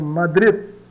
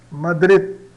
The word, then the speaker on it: Madrid: O D no final, vejamos aqui o nosso exemplo, a palavra Madrid. Madrid, né, escrita assim, nós pronunciamos ela, né, como Madrid. Madrid, né? O D não não chega a ser pronunciado, mas ele fica pronto para ser pronunciado praticamente, né?